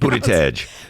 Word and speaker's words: Buttigieg: whose last name I'll never be able to pronounce. Buttigieg.